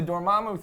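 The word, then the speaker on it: Dormammu: the the the and did they say dormamu doramu they did say doramu so I have been saying it right my whole you're right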